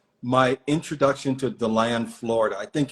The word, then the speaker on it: DeLand: And I thought he meant like the land. And he said, no, like DeLand, Florida. And he actually pronounced it DeLand.